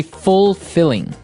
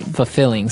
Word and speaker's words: fulfilling: You don't say fulfilling. No, you say fulfilling. Fulfilling. So the L there is kind of silent. Kind of optional.